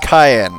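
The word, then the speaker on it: Cyan: his family and kingdom his name is pronounced cayenne i am going to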